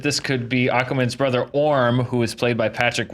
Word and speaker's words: Orm: Orm also rhymes with a lot of other different words. What words, at the top of your head does Orm rhyme with? Well, the first thing that comes to mind is warm, which could mean that